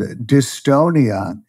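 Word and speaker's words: dystonia: have a condition called distonia rhymes with Estonia it's a movement disorder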